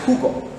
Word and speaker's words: jugo: J is actually more of like a H sound. It will give you that H. In the English, is more of like a J. But a word for J in Spanish is actually jugo. So it's more of like an H sound.